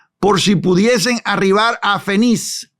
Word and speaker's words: Fenice: si pudiesen arribar a Fenice o Fénice. No tiene acento en la E, no es esdrújula, entonces se pudiera decir Fenice, creo, ¿no?